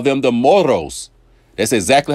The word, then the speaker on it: moros: people in Mexico Mexico they call them the moros that's exactly how she said it because she